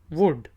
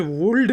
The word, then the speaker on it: would: पहला वर्ड है, ये हम आमतौर पे यूज़ करते हैं, WOULD, वुड। तो हम इसे वुल्ड नहीं कहते, वुड।